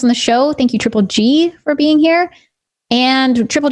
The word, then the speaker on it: Triple_Gz: as well, all under Triple G. Triple G. And how do you spell that? So my Twitch is triple_G with a Z, but the Z is silent.